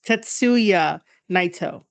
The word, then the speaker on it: Tetsuya Naito: tatsoya Knightdale you see I've been saying tattoo with soil I think it's tetsuya naito tetsuya and then versus Kino